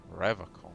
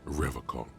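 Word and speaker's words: Revachol: He pronounces Revocol with a hard K, unlike other people. Serious question time. This man is no innocent. No one is. I like to pronounce it the hard way. The old way. The Vespertine way.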